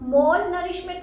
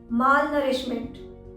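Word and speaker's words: malnourishment: English में बोलते हैं माल नरिशमेंट। इसकी स्पेलिंग में पहले MAL आता है, उसे आप मॉल नरिशमेंट मत बोलिएगा, माल नरिशमेंट। सही प्रोनाउंसिएशन है माल नरिशमेंट। मॉल नरिशमेंट बिल्कुल गलत प्रोनाउंसिएशन है।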